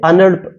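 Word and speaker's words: annul: अनिल ए एन एन यू ए एल इसे अनल अनल पढ़ते हैं याद रखना आपको एक होता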